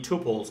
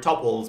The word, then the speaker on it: tuples: we're going to be tuples or topples people like to pronounce it differently let's hit it um